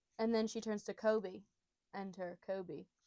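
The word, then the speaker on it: Koby: And then she turns to Kobe.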